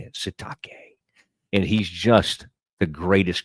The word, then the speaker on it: Sitake: They tried to go after my man Keelani Sitake. That's how you say it. Sitake.